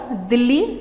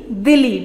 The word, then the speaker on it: Dili: East Timor का capital है दिल्ली, नॉट दिल्ली, दिल्ली, DILI, और इसकी भी करेंसी है US डॉलर।